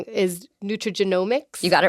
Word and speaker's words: nutrigenomics: So another term I've heard, and I hope I don't pronounce this one wrong, is nutrigenomics.